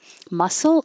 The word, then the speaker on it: muscle: Muscle is a little weird with all these letters and SC c, but it just sounds like an S.